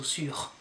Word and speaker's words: sur: And you do pronounce the R here, so sur.